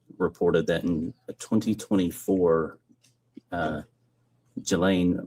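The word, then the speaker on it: Ghislaine: Um, as best as we know, it's been public reported that in 2024, uh, Gilain Maxwell or Gain, I think is how it's pronounced, arranged and wired, uh,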